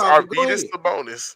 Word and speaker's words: Arvydas Sabonis: His name wrong first off. It's Arvydas Sabonis, but it's the basketball Hall of Fame, so it's not just, you know what I'm saying?